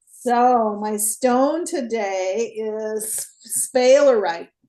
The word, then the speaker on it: sphalerite: So my stone today is sphalerite. It's spelled S-P-H-A-E-L-E-R-I-T-E, sphalerite.